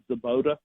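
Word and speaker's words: Svoboda: Well, but, I mean, you would think that – well, Drew Zabota, I think the B is silent, Zabota.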